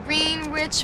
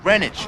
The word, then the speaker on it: Greenwich: on you getting that food down there in green rich village no no no first of all it's pronounced greenwich all right you got to get a little